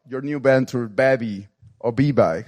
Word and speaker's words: Bevy: Yeah, so let's go deep about your new venture, Bevy, or B-Bike. How should you pronounce that? Yeah, Bevy. Bevy, great.